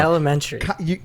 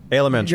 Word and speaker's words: Alementary: I still got it wrong. Elementary. Alementary. You're Like 95% elementary, there. but with ale.